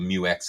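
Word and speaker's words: Mu-X: It's standard fare on the Isuzu Mu X.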